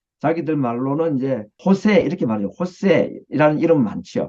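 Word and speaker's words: Jesús: 보면 축구 선수도 보면은 예수 영어로는 지졌는데 이제 발음은 자기들 말로는 이제 호세 이렇게 말하죠 호세이라는 이름은 많죠 그게 다 이제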